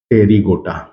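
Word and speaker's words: Pterygota: टेरीगोटा और दूसरा है पी साइलेंट होगा टेरीगोटा ये होगा विंग्ड इंसेक्ट इसमें जितने भी होंगे सभी के सभी इसमें विंग्ड पाए जाएंगे विंग्ड इंसेक्ट इसमें विंग्ड इंसेक्ट्स है।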